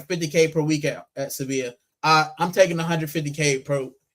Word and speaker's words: Sevilla: I love civilia. I mean, I love Sevilla. Uh, Civilia, that's terrible. I love Sevilla because I'm switching between uh English and and Spanish pronunciations.